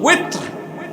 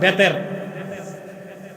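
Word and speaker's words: وتر: তো শব্দটা হচ্ছে কি ওয়েতর, আপনারা বলেন বেতের।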